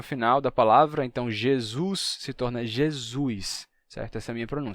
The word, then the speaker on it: Jesus: o que que aconteceu o som de ye foi mudando ye ye G G né G até ficar g g e o s Inter vocálico se sonoriza Então você vai ter Jesus Jesus em vez de Jesus fica Jesus e dependendo do sotaque